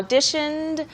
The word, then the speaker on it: audition: 오디션을 본다고 했을 때 물론 우리말로는 오 발음을 해주지만 오디션이라고 쓰니까 영어로는 Right. 오가 아니고 네. Audition. 할 때 그 audition. 이게 이제 오디오라고 할 때도 audio잖아요. Audio. 네, audio.